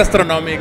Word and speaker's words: Astrognomic: Pues se pronuncia Astronomic sin la G.